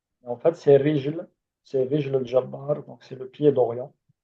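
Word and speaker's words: رجل الجبار: Parfois, ils disent Rigel, Rigel, parce que en fait, c'est les Égyptiens qui prononcent le G comme ga. Mais en fait, c'est Rijl al-Jabbar, donc c'est le pied d'Orient.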